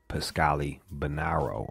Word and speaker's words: Pascali-Bonaro: rud Jude and Lord SE we have pascali banaro on the line did I say your name